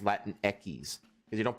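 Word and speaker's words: Latinx: that's the thing like they say that it's pronounced Latin X it's like if you know the Spanish language it be it's actually pronounced Latin Eis CU you don't pronounce x x in Spanish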